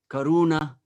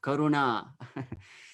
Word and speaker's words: karuna: there are different traits some languages like english there is a tendency to all stress uh mostly the second syllable in words so we have devoted sometimes saying radhika or uh you know karuna instead of karuna so anyway i'm just